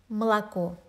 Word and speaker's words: молоко: The first O is the farthest from the stressed syllable, so it's almost not pronounced at all. М, молоко.